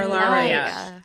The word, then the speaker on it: Hilaria: Ilaria. Hilaria. No It's H. pronounced the same way.